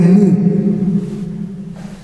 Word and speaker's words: mu: You can pronounce it as a man, but it is a mu.